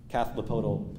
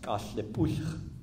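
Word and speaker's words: Cathlapotle: relate this back to, this is the Kathlipodal plank house, which is actually pronounced Kathlipuch, which is a Chinookan village on the other side of the Columbia River here.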